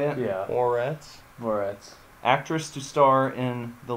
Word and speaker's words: Moretz: Moretz.